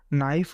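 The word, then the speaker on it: knife: जैसे कि के इसमें साइलेंट वर्ड हो जाएगा, फिर वेंसडे में डी साइलेंट वर्ड हो जाएगा।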